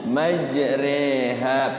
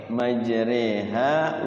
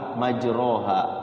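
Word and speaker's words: مجريها: supaya perahunya enggak miringitu Bismillahi majreha pakai e majreha wa mursaha tulisannyaul tulisannya majroha majroha Iya ro kalau kita tidak tahu ya Otomatis majra tulisannya majroha ya padahal di situ ada tulisan imalah ya Iya Iya khusus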